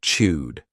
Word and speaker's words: chewed: past simple verb, but the pronunciation is a soft D, chewed the now again. We can drop that sound when we're connecting it to other words, so you don't really hear it.